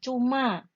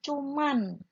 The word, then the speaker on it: cuma: Seperti kita mengucapkan cuma, ya. Tapi seringkali kita mengucapkan cuman, ya, pakai N. Nah, itu tidak tepat, ya.